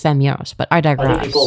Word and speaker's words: Femyoz: Oh, I'm I am Well, you didn't pronounce my name correctly. It's Femos. But I digress. People like myself. Femis is a fem hell.